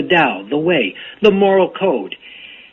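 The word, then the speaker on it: Tao: spelled ta AO but in fact it's pronounced the da the way the moral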